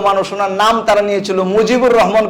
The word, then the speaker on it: মুজিবুর রহমান: উনার নাম তারা নিয়েছিল মুজিবুর রহমান কইতে পারে না উনারা বলে মুগিবুর রহমান এরা জিমের উচ্চারণ করে গাইন তো পত্রিকার মধ্যে যখন